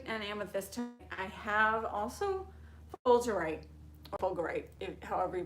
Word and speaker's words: fulgurite: So fulgurite or fulgurite, I'm pretty sure it's a soft G.